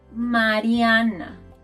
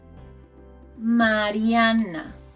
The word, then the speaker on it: Mariana: letra A en español, letter A in Spanish, is always pronounced A.